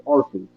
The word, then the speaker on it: Arceus: No, as MNJ TV said, it's Arceus, obviously. Yeah, it's obviously Arceus, I give this episode a mocha lattes out of 10.